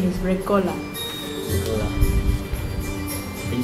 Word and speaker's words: Recohla: My name is Recohla. Recohla. Can you spell that for me?